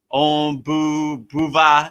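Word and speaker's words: ॐ भूर्भुवः: So I wrote it out in American English, like, you know, like Om Boo Buva, you know, like boo, like a ghost, boo va, you know, like, so I kind of write it out.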